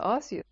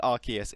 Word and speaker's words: Arceus: I think Arceus is the actual, like, the canon pronunciation. I think that's how they pronounce it in the trailer.